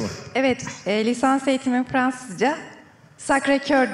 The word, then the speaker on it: Sacré-Cœur: Sacré-Cœur diye telaffuz ediliyor. Sacré-Cœur. Cœur, evet.